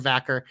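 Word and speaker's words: Vaquer: Vacker, yes. I couldn't remember if it was Vacker or Vackery.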